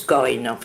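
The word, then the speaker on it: Korin: Ça se prononce Corinne en russe et ça veut dire racine, justement.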